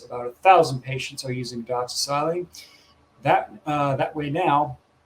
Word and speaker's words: doxycycline: So the antibiotic you're trying to pronounce is called doxycycline.